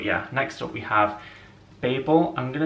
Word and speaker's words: Babel: next up we have Babel I'm gonna is it people or is it but I'm gonna say Babel because I feel like most people say it like that so I'm gonna be